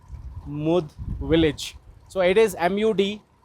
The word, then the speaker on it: Mud: So it is MUD. Some people will call it mud, but actual name in Hindi, if you'll pronunciate it, it is Mud village.